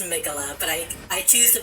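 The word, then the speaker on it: Miquella: they're just like regular names i know it's pronounced megala but i i choose to believe he wrote it as michaela so if it's a ball swing we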